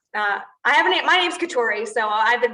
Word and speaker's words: Keturi: in in your name i like the emphasis on kitauri keturi katori but honestly i don't